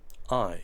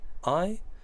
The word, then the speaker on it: I: pondría con mayúscula siempre Ay se pronuncia Ay se escribe con una I latina mayúscula y significa yo y